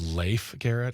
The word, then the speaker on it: Leif Garrett: His name is pronounced Leif Garrett.